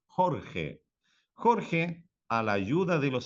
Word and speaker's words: Jorge: Jorge, a pronunciação Jorge, né, como se fosse a J, como se fosse a pronunciação do H, do inglês. Jorge.